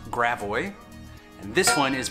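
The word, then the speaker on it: Gravois: have french names but we don't say them with a french accent we say them with a very americanized pronunciation and i'm going to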